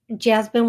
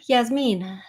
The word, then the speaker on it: Yasmine: and this is uh Jasmin Jasmine wants to know hello please uh my name is is Yas Meine Yasmine sorry I mispronounced it any message about workplace